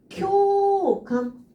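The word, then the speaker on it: 共感: 쿄감 요 발음이고요. 코감 오 발음이구나.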